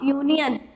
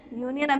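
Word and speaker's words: union: अब यूनियन, यूनियन मैंने अभी पहले ही बताया, या का साउंड निकाल रहा है और या क्या है, एक कॉन्सोनेंट है, तो हम इससे पहले किसका यूज करेंगे, ए का।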